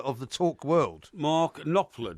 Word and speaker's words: Knopfler: Mark Knopfler, do you mean? Knopfler. Knopfler, yeah. Knopfler, the P Sorry, is silent, isn't what it?